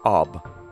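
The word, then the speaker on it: אב: It is pronounced Ab.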